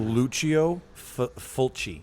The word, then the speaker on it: Lucio Fulci: it's Lucio Fulci.